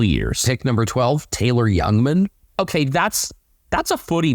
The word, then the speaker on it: Jungmann: Pick number 12, Taylor Youngman. Okay, that's a footy name. I mean, it's spelled Jungmann. If it was spelled like young man, then absolutely.